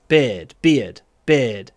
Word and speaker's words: beard: Обычно, когда мы говорим про beard, это будет в конце предложения. He's got a nice beard. Beard. Именно ия мы говорим, потому что это конечный, обычно.